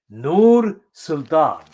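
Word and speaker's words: Nursultan: in linguistic terms but i shall pronounce it correctly nur sultan persian arabic mixture there persian arabic person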